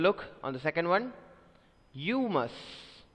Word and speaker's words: humus: I already informed you it is not humus, because mus you try to pronounce it as mus, but no, this is not the pronunciation here. It's mus. As you say bus, bus, similarly here mus is mus.